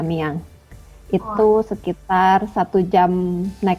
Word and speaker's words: Amiens: yang namanya Ami yang itu tulisan si amiens Tapi bacanya amiang itu sekitar satu jam